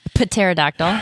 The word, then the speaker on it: pterodactyl: pterodactyl spelled with a P. Yeah, pterodactyl.